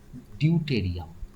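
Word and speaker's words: deuterium: protium ওকে আর এইচ টু ওয়ানের নাম হচ্ছে ডিউটেরিয়াম বা ডোয়াইটেরিয়াম যা প্রোনাউন্সিয়েশন করবে আর এটার নাম হচ্ছে টিট্রিয়াম ট্রিসিয়াম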